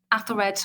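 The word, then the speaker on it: Æthelred: married the assumption is that she married athered or i prefer to call him ethel red i know i'm going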